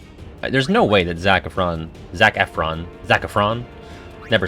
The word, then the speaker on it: Efron: his last name zac efron zac efron infinite emphasis on the f zac efron uh i don't know